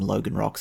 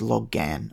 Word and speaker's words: Logan: A Logan Rock, and I'm going to keep accidentally calling them Logan Rocks, it's actually pronounced Loggan, apparently, is a huge stone that can be rocked like a cradle with just the strength of a hand.